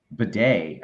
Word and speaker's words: Bleday: Chinatown says, as for JJ Bleday, that's actually how you pronounce it. The L is silent. It is bidet.